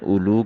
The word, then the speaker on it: أولو: میں ایک تو کلمہ اولو کا تلفظ بتاتے ہوئے کہا جا رہا ہے کہ اس کا پہلا واو لکھنے میں تو آتا ہے، پڑھنے میں نہیں آتا، اور اولو ذو کے